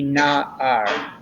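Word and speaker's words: נער: And let's be careful of the pronunciation of the ayin, which is silent, so that it would be na-ar.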